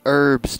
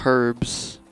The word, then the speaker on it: herbs: herbs and other vegetation it's herbs not herbs god the age is silent madame nina planted diminutive